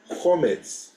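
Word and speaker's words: חומץ: Okay, do you know how do you say vinegar in Hebrew? Chometz. Okay, and chometz sounds like chametz.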